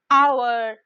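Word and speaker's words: hour: কিন্তু আমরা যখন বলছি আওয়ার, অনেস্ট, এখানে এইচটা কিন্তু সাইলেন্ট থেকে যাচ্ছে, আমরা উচ্চারণটা ভাওয়েল সাউন্ড দিয়ে শুরু করছি, অনেস্ট, আওয়ার।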